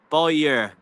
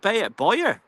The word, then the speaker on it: Bayer: be awesome Shane mingard it's pronounced by by year not B Boer sweet and Nord means